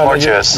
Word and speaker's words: Mortuous: I'm not sure how to pronounce this, but Mortuous? Yeah, you got it. Yeah, it's Mortuous.